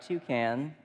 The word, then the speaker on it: toucan: kids favorite Birds and what I love about toucan is it rhymes with you can and I know that